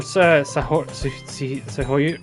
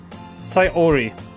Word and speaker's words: Sayori: Yo, Sahori.